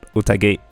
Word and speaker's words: 宴: So, I guess utage is how you pronounce it, and utage might be like close enough.